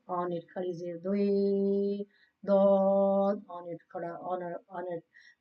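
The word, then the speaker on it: ضاد: No, this is pronounced from the edge of the tongue, side of the tongue touching the mole on the roots of the molar, like dod on it.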